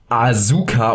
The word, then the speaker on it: Asuka: Leute haben es alle Asuka ausgesprochen. Jetzt fragt sich natürlich, warum wird das Asuka ausgesprochen? Ganz einfach, in dieser Zusammensetzung wird das U im Japanischen nicht ausgesprochen, das ist dort stumm.